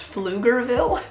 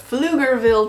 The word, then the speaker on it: Pflugerville: a really funny name, and I think it's pronounced Pflugerville? Pflugerville, Texas.